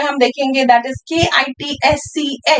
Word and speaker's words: kitsch: तो पहला word जो German में हम देखेंगे, that is K-I-T-S-C-H. The pronunciation is kitsch.